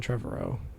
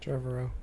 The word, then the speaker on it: Trevorrow: Colin Trevorrow.